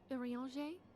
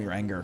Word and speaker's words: Urianger: Urianger, the floor is yours. Now I know how to say his name. Urianger. Urianger. As all here I called him your anger.